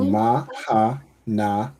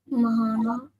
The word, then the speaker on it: Mahana: So you pronounce the ma fully. So ma, you pronounce the ha and then the na and the ha are connected. Right. So ma hana.